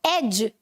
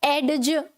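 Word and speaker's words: edge: अब देखो एज. ठीक है, क्या बोलते हैं? एज. तो ये जो डी रहता है यहाँ पर, ये क्या रहता है? साइलेंट. इसे हम नहीं बोलते. ठीक है, एडज. एडज ये बोलते हैं क्या हम? नहीं. ये जो डी है इसे नहीं बोला जाता, इसे ड्रॉप कर दिया जाता है व्हाइल स्पीकिंग.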